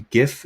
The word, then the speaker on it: GIF: sometimes a gif and it is pronounced a gif not jif by the way that is official um you heard it